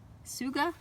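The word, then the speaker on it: Tsuga: a Douglas fir so Western hemlock sugah had a ruffalo that T is silent some sugah had a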